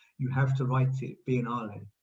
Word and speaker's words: Biennale: which we did at the venice biennial sorry biennial biennale uh the venice biennale um it's always called